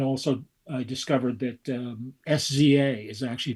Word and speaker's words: SZA: lot um and also I discovered that um sza is actually pronounced sczs um this is why people don't bring me